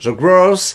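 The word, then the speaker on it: Growth: C'est prononcé à l'anglaise. The Gross Hacking. The Gross, repeat after me.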